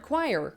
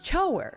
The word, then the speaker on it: choir: Because when you first hear the word choir, okay, you break it up. Choir. So you come to the logical conclusion that it's spelled like this. Choir. And then you find out how it's actually spelled, and it's spelled like this. No. That's chower. Chower. That's not choir. Stop trying to gaslight me into thinking that these are the same words because they're definitely.